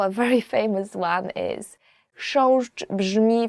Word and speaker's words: Chrząszcz: Chrząszcz, beetle. So the first word is, and I promise you this is the most difficult word you will ever learn in Polish, as for the pronunciation, is chrząszcz.